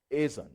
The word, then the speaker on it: Ason: Ason. Okay, all right. Thank you. That's the correct pronunciation. Ason.